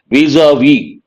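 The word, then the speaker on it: vis-à-vis: severe criticism or disapproval an important word stricture vis-a-vis preposition in relation to here careful with pronunciation Visa V and Forge has many meanings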